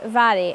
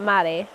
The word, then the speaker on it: Mhairi: That's Mhairi, pronounced Vary and not Mary, okay?